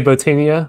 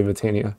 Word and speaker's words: Botania: is whatever you want i say botania with the o sound but if you want to pronounce the light bot in me i bought botania i i don't know that's more awkward so i think most people say vitania but whatever you want